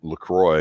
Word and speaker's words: LaCroix: an older guy, and I just call him LaCroix because it's spelled like the bad water, and there's a female